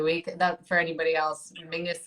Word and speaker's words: Menzies: that for anybody else mingus is how weirdly the scottish people um that's that's how they would pronounce menzies i don't understand where the g comes out of it but that's it is